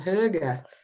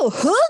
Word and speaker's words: hygge: It's called hygge. Ooh, hygge. Hygge, I like it. Hygge, I think is how it's spelled, but the feeling that you're cozy.